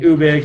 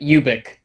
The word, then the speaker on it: Ubik: yes he was totally fine with it being ubek uvic but i think he did call it